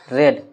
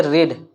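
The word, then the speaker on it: read: और ये देखिए रीड का स्पेलिंग सेम होता है। लेकिन इसको क्या बोलते हैं? सेकंड और थर्ड फॉर्म में तो रेड रेड पढ़ा जाता है।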